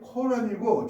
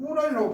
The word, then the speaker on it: 꾸란: 하느님의 정액 한 방울로부터 인간은 시작되었다라는 한 것이 우리가 배웠던 것이 코란이고 지금 꾸란이라고 발음합니다. 그 코란에 나와 있답니다.